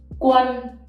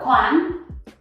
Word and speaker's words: Quân: Next one we have is Quân. A with hat in Vietnamese is not A. It's not Quan, it's Quân. Okay? Quân.